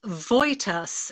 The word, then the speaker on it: Wojtas: loud i will indeed it's voitus it's spelt but it's pronounced as if it was a v and a y and can i just